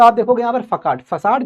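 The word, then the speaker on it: façade: ये फसाड है ये वाला। इसको इंग्लिश में कुछ लोग फकेड कहते हैं। फकेड बट इट is pronounced eight फसाड।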